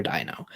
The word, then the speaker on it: Deino: He debated Dok Deino, so it was kind of a dino versus dino kind of a situation. Although his is like dino as in dinosaur, and yours is dino as in Deinonychus, I think it is.